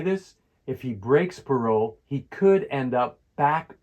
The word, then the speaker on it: parole: Here's the pronunciation guide for parole. Parole, and the stress is on the roll.